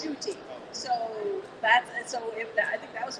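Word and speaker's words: Ncuti: And we were told Scooty. And we're like, no, it's Shooty.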